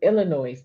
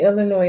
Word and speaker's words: Illinois: reciprocity yeah Illinois the Illinois why am I saying that they know ask the S is silent they they disorged in